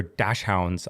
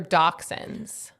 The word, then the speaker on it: dachshund: Those are dash hounds on her sweater. That's not how you pronounced it.